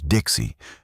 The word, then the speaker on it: DXEI: Xenobiological Educational Integration or DXEI which everyone pronounced as Dixie because even aliens appreciated a good acronym.